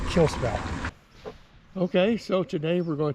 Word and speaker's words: Kalispell: in the way we were spelling it or pronunciating it. It's called Kalispell. They let us know that when we mispronounced it. It's Kalispell. It looks like Kalispell, but they say Kalispell.